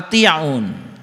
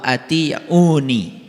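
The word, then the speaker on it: أطيعون: Fattaqullaha wa ati'un. Nah ini sebetulnya dibacanya harusnya fattaqullaha wa ati'uni.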